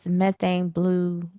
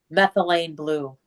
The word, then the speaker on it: methylene blue: So anyway, he found this methane blue. Say it again now. methylene blue.